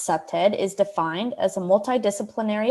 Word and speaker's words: CPTED: explore what that means the acronym cpted pronounced septed is defined as a